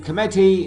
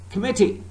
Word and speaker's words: committee: first syllable is stress what about in committee and recommend second syllable is stressed committee committee recommend Rackham it's not